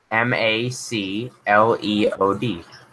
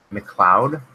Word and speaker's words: MacLeod: say Mac well yeah spell it ma c le OD McCloud McLeod yeah as a Scottish second name really yeah McLeod